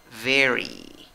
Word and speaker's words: very: Aquí la acentuación va en la primera sílaba, contando de izquierda a derecha. En la primera sílaba tienes una E. En la segunda sílaba, en la pronunciación, tienes la E con sombrero. Y la E con sombrero se pronuncia I.